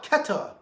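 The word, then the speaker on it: Keter: tongue k-e-t-h-u-r that's how they spell it it's ketta and keta is the realm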